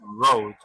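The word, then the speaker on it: wrote: es mike en pasado road a pesar de que ese verbo tiene una w w no se pronuncia está w siguiente solamente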